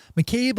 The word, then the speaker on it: McCabe: the focus on the Maine and Massachusetts markets McCabe law can help you get your legal cannabis